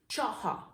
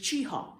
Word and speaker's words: Cheaha: for the park was chaha very nasy and we have now moved to a modern pronunciation of just chiha and so the word